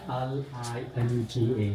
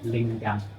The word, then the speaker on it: linga: L-I-N-G-A, linga, or some people pronounce lingam.